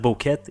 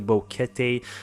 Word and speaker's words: Boquete: mention the fact that we messed up with a pronunciation of bouquet we said boquete it's actually bouquet so uh i'll just